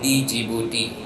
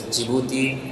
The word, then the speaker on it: Djibouti: of you even I used to call it Djibouti so the pronunciation is jouti and not Djibouti so that is the time I first went